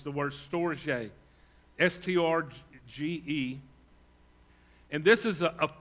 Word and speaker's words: storge: The third word, if you're going through this with us, is the word, the way you pronounce it, it looks almost like storage. That's not it. It's the word storge, S-T-R-G-E.